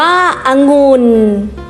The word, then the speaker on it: องุ่น: เสียง คือ พยางค์ หลัง ให้ อ่าน ออก เสียง วรรณยุกต์ ตาม เสียง อักษร กลาง หรือ อ่าน เหมือน มี หอ นำ พยางค์ หลัง องุ่น อ่าน ว่า องุ่น จมูก อ่าน ว่า จมูก